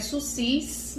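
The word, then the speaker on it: sursis: Ele escreve SUSIS, mas a gente pronuncia SUSI, que seria a suspensão da execução da pena.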